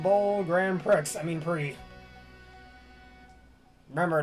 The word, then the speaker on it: Prix: I mean, Prix. Remember, don't pronounce the X.